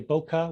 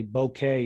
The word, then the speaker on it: bokeh: It's pronounced the same as the French word for bouquet, which is a arrangement of flowers. You hear people say bokeh, which is actually a